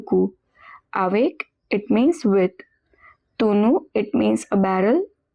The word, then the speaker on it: tonneau: Tonneau, it means a barrel. Remember the pronunciation is tonneau.